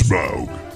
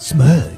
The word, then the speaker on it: Smaug: Rhymes with Grug. It's Smaug. Smug.